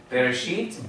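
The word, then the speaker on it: בראשית: so get over quickly Big Bear sheet sheets bereshit bara Elohim now if we were singing the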